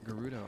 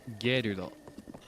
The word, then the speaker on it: Gerudo: And then we'll be home free for Gerudo. Are you ready? Do you like the way that I pronounce that in English, by the way? I think in Japanese it's just gerudo.